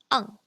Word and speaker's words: ang: ANG is more like ung. Kind of like R from you are. So instead of bang, we have bang, or like bang.